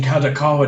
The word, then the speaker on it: Kadokawa: Kadokawa Corporation, Kadokawa Dwango Corporation that make up the group to indicate strongly the management integration of Dwango Company Limited, in and out.